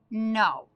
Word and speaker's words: know: Now I want to think as a reader, what is the silent letter? Well, I hear N in the beginning. That makes an N sound. So that tells me that the silent letter is K.